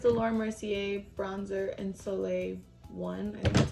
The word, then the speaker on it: soleil: is this is the laura mercier bronzer and soleil one and that's how you say it can't